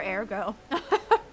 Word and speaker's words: Ergo: there uh excuse me Ergo Ergo whatever the you want to say there go yeah they do pronounce the um the E differently huh all right we